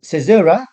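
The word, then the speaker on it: caesura: and to talk about so cesura that's how you pronounce this word is a pause usually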